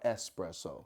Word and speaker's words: espresso: Is it espresso or espresso? It's an S, not an X.